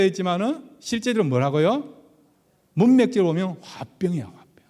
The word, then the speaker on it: 화병: 인터넷에 여러분 그렇게 치보면요, 화병이라 나왔어요. 한국 사람들이 등재한 변명이다 그렇게 나와 있습니다. 그러니까 이게 장모가 지금 열병이라 했지만은 실제로 뭐라고요? 문맥적으로 보면 화병이야, 화병.